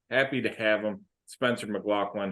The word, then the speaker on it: McLaughlin: It is pronounced McLaughlin, but don't worry. McLaughlin. You're only about the 879th person to make that misstep.